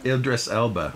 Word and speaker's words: Idris Elba: um how do you say that Idris Elba Idris Elba that's thank you he's jumping off a cliff